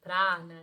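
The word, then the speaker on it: prāṇa: prana também para acontecer prana né seria o jeito certo de falar aqui eh e tem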